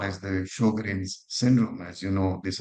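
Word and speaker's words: Sjögren: So this is typical of what we call as the Sjogren's syndrome. As you know, these are connective tissue disorders. Sjogren's, and people can spell it whatever, Sjogren's or whatever.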